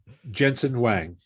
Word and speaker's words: Jensen Huang: Jensen Huang.